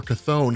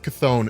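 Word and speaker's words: Chthon: the idea that it might be mephisto or cathone who are basically the ones using wanda maximoff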